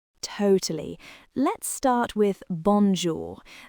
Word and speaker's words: bonjour: Let's start with bonjour. That on sound is what we call a nasal sound.